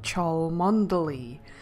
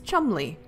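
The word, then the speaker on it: Cholmondeley: I had no idea how you pronounced Chumlee since there were so many more letters it was like chil mondo Li but no it's Chumlee that doesn't make any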